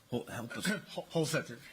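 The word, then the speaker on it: Holsether: of your last name I could imagine it with a hard t or th sound whole Setter whole Setter okay um uh you are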